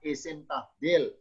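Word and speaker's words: اسم تفضيل: Berikutnya contoh lagi cabang dari isim mustaq bernama ismut tafdili. Ismu tabdili, bacanya isim tabdil.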